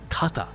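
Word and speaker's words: 方: from hor ga e however when used with the stem form of a verb which is by removing the mass in a must form verb it is read as kata and this shows the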